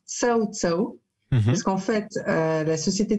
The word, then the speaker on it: CaoCao: Alors oui, ça s'écrit KO, mais ça se prononce Cao Cao.